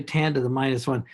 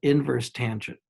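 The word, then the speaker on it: tan⁻¹: And you tan inverse, tan backwards, tan, don't say tan to the -1. This is just an old notation, tan with a superscript -1. You pronounce it inverse tangent.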